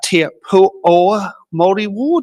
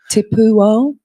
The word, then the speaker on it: Te Pūao: Uh Tu mold. Is that how you say or how do you say it better? Tapuo.